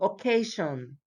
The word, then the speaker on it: occasion: The stress, la mayor fuerza de voz, the stress is always on the syllable before them.